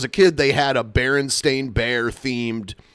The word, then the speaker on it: Berenstain: So I knew the correct way to say the name because they would say it in the commercials. But people who didn't know called it like Bernstein Bears. Right. So like people were wrong about the name.